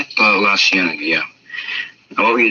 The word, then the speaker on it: La Cienega: La Cienega, yeah.